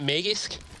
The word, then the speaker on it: Magisk: might do more how what's the official pronunciation of the two names uh isn't isn't it magisk yeah close enough and uh magics okay